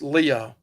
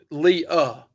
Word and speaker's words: Lee: So also also Lee is pronounced Leah. Okay. So you can pronounce it either way but Leah.